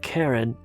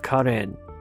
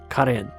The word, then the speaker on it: Karin: It's not Karen, but Karin. There is no Karen in Armenian, so it's only Karin. It's a man's name, Karin.